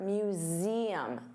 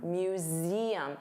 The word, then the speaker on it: museum: So let's talk about the pronunciation for museum. Z. So notice you have that voiced Z sound, museum. And there are 3 sounds, museum, museum, museum.